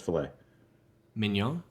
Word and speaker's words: filet mignon: work it's two words the first one is filet mignon there you go that's how you pronounce it he's telling he's correcting your principles